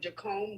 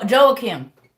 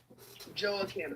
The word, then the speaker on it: Joachim: and when it spoke about, I don't know if I'm pronouncing his name right, Jacome, that's how you say the father's name? Anna's Joachim. Joachim, Mm-hmm. okay. Or Joachim.